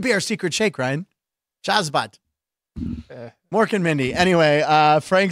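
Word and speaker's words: Shazbot: Shazbat. Shazbat. And then he'd shake hands like this. You'd split fingers like, well, that could be our secret shake, Ryan. Shazbat.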